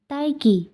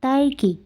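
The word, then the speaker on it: 딸기: কি আপনাদের মনে আছে এটা কিন্তু দুইটা উচ্চারণ আছে একটা হচ্ছে র আরেকটা হচ্ছে ল বাট এখানে হবে তাই কি তাই কি তাই কি এটা র উচ্চারণ হয় তাই কি যদিও এটা এভাবে শোনা শোনা যাচ্ছে না যখন এটা প্রোনাউন্স করবেন উচ্চারণ করবেন তখন রটা তেমন একটা শোনা যায় না তাই কি এটা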